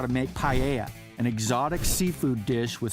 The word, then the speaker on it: paella: Matt is going to show us how to make paella, an exotic seafood dish with Spanish origins, with a little help from his daughter Zoella.